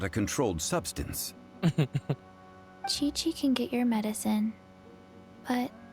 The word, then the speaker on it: Qiqi: I am Chi-Chi. Chichi spricht man das aus. Ich hab's mal genannt.